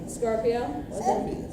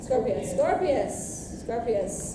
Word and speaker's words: Scorpius: I believe I'm pronouncing Draco's son's name right. Scorpio. Scorpius.